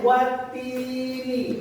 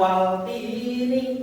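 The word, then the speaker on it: والتين: Ya, maka dibacanya watini, bukan waltini, bukan ya, tapi watini wazaitun.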